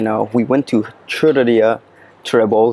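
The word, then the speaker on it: xurreria: is with the X, churreria. The X makes like a ch sound, so that's why you see all these churreria spelled with a churreria.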